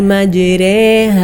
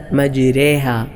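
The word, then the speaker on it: مجراها: മാത്രമാണ് ഇങ്ങനെ ചിരിച്ചുകൊണ്ട് ഉച്ചരിക്കേണ്ട സ്ഥലം അത് എവിടെയാണ് ബിസ്മില്ലാഹി മജ്രേഹ മജ്രേഹ മജ്രേ ഇവിടെ മാത്രമാണ് നമ്മുടെ കിറാത്തിലെ ചരിച്ചുകൊണ്ട് ഉച്ചരിക്കുന്ന സ്ഥലം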